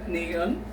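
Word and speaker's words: 니은: So this is called niun, or the letter N.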